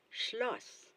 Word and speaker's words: Schloss: Remember, the combination of consonants SCH, you say sh. That's how you sound it. As in the first sound in the word, in the English word shelter. Shelter. So you say Schloss.